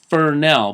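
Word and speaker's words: Fresnel: move on to the fernell yes it's pronounced furnell but look at the spelling it's spelled fres anyell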